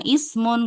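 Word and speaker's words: اسم: Kemudian di sini juga sama ismun enggak bisa lihat dari huruf ketiganya ya. Tapi pokoknya kalau ada kata ismun hamzah wasan dibaca kasrah ya.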